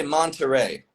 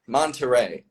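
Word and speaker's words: Monterey: us contrast the stress if I say Monteray Monteray it's easily understood not a problem it's just not American sounding in the stress pattern that's the difference it's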